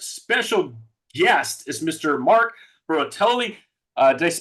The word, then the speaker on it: Bertolini: Mark Bertolini. Did I pronounce that right? Bertolini. Bertolini. Yeah, Bertolini.